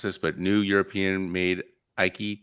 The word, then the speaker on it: Äike: how to pronounce this but new european made ikey t may just be the best designed electric scooter in the world yeah so you got very close it's the icah so uh the icah t and ike apparently